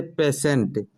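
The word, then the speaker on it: patient: जैसे पेशेंट, टी के बाद क्या आ रहा है, IE आ रहा है, इस वजह से यहाँ उच्चारण सीटी वाला सा का हुआ, पेशेंट।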